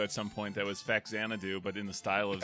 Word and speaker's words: Faxanadu: So, how do you pronounce this game? Faxanadu? Faxanadu.